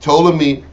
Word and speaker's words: Ptolemy: Tony told me either the p is silent it's dumb but it's true the son of Legos seized upon Egypt Ptolemy controlled Egypt right on